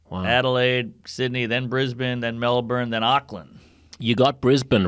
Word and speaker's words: Melbourne: got Brisbane right but you're still pronouncing the r in Melbourne Melbourne Melbourne it's like a bun like a it's like a bun it's like a pork bun just call it you